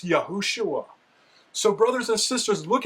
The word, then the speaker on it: Yahushua: And the only correct way to pronounce that in the ancient Hebrew is Yahushua. Remember in the Babylonian cuneiform it is Yahushua.